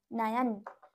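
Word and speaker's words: नयन: নিশ্চয়ই না, যেহেতু শব্দের মধ্যে রয়েছে সেজন্য এগুলো কি হবে নয়ন, দন্তন্য অন্তস্থ দন্তান্ন, নয়ন নয়ন বলবো।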